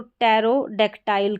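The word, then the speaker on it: pterodactyl: इसको भी पी को हम पढ़ेंगे नहीं तो टैरोडेक्टाइल करके हो गया।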